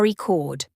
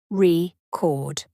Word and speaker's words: record: meaning of a word for example record is a noun when the stress is on the first syllable AR record but it's a verb when the stress is on the second syllable record intonation how your voice Rises